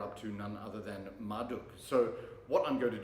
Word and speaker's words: Marduk: And there's some I know the correct pronunciation is Marduk, but I always feel that's like really awkward to say, so I just go with the Latin pronunciation of you, like Marduk.